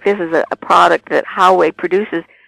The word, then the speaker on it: Huawei: And they specifically identified one Chinese company, and I think you pronounce it Huawei. Huawei.